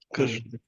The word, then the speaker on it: Krishna: this question yeah definitely it's not Krishna but it's Krishna okay would you are